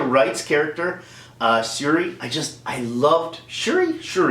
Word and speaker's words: Shuri: Letitia Wright's character, Shuri, I loved Shuri, I think it's pronounced Shuri. I'm so sure that it's Shuri.